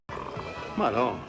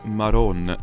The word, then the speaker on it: Madonna: Madonna. Whatever. Notice how it's Maron and not Madon. That's because in Neapolitan, the D sound between vowels can become a R, that's an alveolar tap.